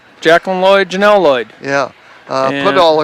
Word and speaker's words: Podoll: Podol, of course, is Podoll, like the doll.